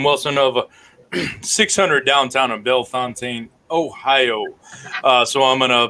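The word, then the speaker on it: Bellefontaine: competitor mr nathan wilson of 600 downtown in belfontaine ohio uh so i'm gonna play our absentee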